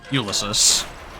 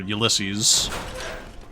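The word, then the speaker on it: Ulysses: It's uh Ulysus or Ulyses, however you choose to pronounce it. Um cuz like you could pronounce it like Odisos or something like Greek pronunciation, whatever.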